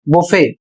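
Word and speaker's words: buffet: अगला शब्द है बी यू एफ एफ ई टी अर्थात बी U double F ई टी इसे पढ़ा जाएगा बुफे और इसका अर्थ होता है स्वयं सेवा भोज और यहां पर कुछ कॉमन स्टैंडर्ड वर्ड्स में क्रिसमस जैसे शब्द हैं।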